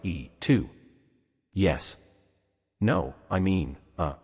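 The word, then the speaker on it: 이: Technically, in modern Korean, Lee is pronounced more like E2.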